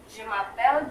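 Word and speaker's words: je m'appelle: kalau J ini Eh kalau penyebutan saya ini dibacanya je J mapel mapel kayak biasa e-nya enggak perlu dibaca jumapel jumapel flaudi jumapel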